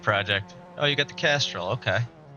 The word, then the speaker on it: Castrol: Oh, you got the Castrol. Okay. You got to pronounce that L. Casserole. Yeah, you can't leave the L out, or it sounds a little bit worse.